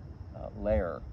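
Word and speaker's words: Loehr: Lohr. I think it's actually Lehr, which is the correct pronunciation, but it's L-O-E-H-R. So I've been saying Lohr. It's Lehr.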